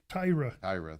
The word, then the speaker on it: Taira: We get to see him again here against I always say his name wrong. Taira, thank you.